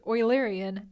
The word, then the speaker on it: Eulerian: Yes, it's pronounced Eulerian after the famous mathematician Euler.